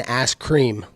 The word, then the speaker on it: Askren: So Ben Askren, he has a fight coming up with Jorge. How do you see that fight going? Oh, you said his name backwards. You said it wrong. It's Ben Askren.